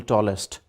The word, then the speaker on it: tallest: EST is usually pronounced as est in Pakistan. For example, tallest, biggest, hardest. That is wrong. You must avoid it. It should be ist.